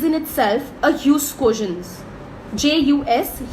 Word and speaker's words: jus: J-U-S, jus, so that J is silent, guys.